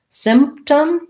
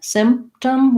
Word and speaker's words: symptom: will help you length and then short symptom symptom we don't really say that p we don't release it it's not symptom symptom um so i just re symptom symptom um this also is